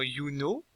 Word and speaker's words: Juno: J se prononce IE, comme dans Juno, Junon.